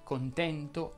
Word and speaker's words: contento: qual è la regola le parole terminanti in e nt richiedono generalmente la pronuncia aperta quindi si dirà furente contento lento vento cento ma attenzione se davanti